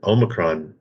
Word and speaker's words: Omicron: with the new emerging I'm going to mispronounce it Omron variant yes Dave and actually you pronounced it correct which is pretty good